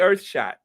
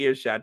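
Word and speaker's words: Earthshot: The Earth Shot, not the Ear Shot, the Earth Shot.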